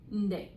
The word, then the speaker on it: nde: Nde is how you say it at the end. It sounds a little weird, takes a little bit getting used to because it doesn't quite sound like a full word, but it is.